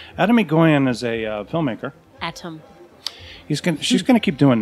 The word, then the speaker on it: Atom: I'm going to say his name is Atom McGoyan because it's A-T-O-M, not Adam.